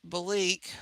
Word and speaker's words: Belleek: It's Belique, which if I write it on here, I'm sure you guys could see it here.